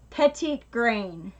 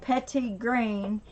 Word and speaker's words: petitgrain: the 15 milliliter so that's how you spell it Josh right there PEGI t gr AI n petite green and funny story or